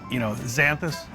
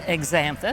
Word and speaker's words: Xanthus: We hear them pronounced, xanthus and exanthus. But it's exanthus, starts with an X, A-N-T-H-U-S.